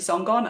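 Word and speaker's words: Sangan: my name is and I'm just on everything so it's song on it's like your surname you don't kind of pronounce it quite how it's it's written so song is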